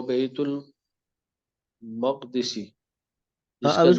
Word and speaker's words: بیت المقدس: یہ عام طور پر ہم اس کو بیت المقدس بھی پڑھتے ہیں اور بیت المقدس بھی پڑھتے ہیں. عام طور پہ لوگ بیت المقدس پڑھتے ہیں، لیکن زیادہ بہتر جو وزن ہے اس کا، وہ تلفظ اس کا پڑھنے کا، وہ بیت المقدس ہے. اچھا کیوں ہے وہ پھر انشاءاللہ آپ کو بتائیں گے، لیکن بیت المقدس پڑھے تب بھی ٹھیک ہے، غلط نہیں ہے.